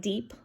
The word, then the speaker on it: DIEP: and it's pronounced like deep um like if you dive deep into a pool but deep stands for